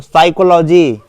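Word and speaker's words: psychology: जाकर जानते हैं तो साइकोलॉजी ओो साइकोलॉजी आपसे जानना चाह रहा है साइकोलॉजी का स्पेलिंग पी पी साइलेंट होता है बाकी समझते ही होंगे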